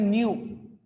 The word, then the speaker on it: nu: Pronunciation बहुत सी book में NU लिखेगा, प्रोनाउंसिएशन में इसको न्यू, NEW का जो प्रोनाउंसिएशन है वो इसका प्रोनाउंसिएशन है न्यू, है ना। बहुत से लोग नू बोल देते हैं कि मैं नू कर रहा था, वो नू भी बोल सकते हो या न्यू, ठीक है।